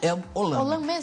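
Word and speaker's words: El Olam: El olan como é que é que se pronuncia el olan isso mesmo vamos ver lá Gênesis 2133 uhum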